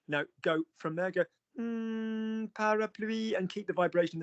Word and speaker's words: parapluie: So your first word, Nick, is parapluie.